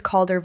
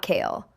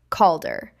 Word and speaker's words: Calder: My name is Calder, not Cal, not Kale, Calder. The way my grandfather Reuben used to say it, drawing out the first syllable like it carried weight.